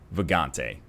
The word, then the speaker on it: Vagante: the background is indeed Vagante. I don't know how to pronounce it. Yeah, let's just call it Vagante from now on. Yeah, it's Vagante, so like Vag-ante, like what you would